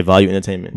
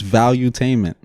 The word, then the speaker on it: Valuetainment: Yeah, Value Entertainment. Valuetainment. It's Valuetainment. Oh, yes, one like he made one word with it. Yeah. The way it's spelled, it has like 2 E's, so I just separated it.